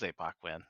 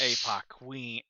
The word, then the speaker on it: ApocWhen: name yes uh oh it's pronounced APO Queen ow she uh uh